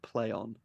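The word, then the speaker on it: Plaion: o n um but they're pronouncing it play on and the reason they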